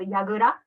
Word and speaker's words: Yagura: It's called Yagura. Hegura? Yeah, yes. Oh, very good. Very good pronunciation.